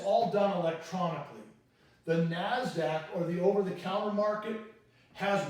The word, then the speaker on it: Nasdaq: markets you may have heard of this is pronounced Nasdaq it stands for National Association of Securities Dealers